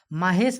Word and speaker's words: महेश: माहेश आपने कभी नाम सुना है? नहीं, माहेश नहीं, महेश होता है। यहाँ पर ए जो है वो साइलेंट हो जाता है।